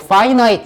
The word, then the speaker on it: finite: 자, 잘못된 소스, 즉 뭐냐 하면은 더 small, 적고 작고, 이거 finite 이라고 읽으셔야 돼요.